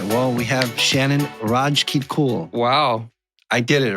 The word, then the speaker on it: Rajkitkul: All right, well, we have Shannon Rajkitkul.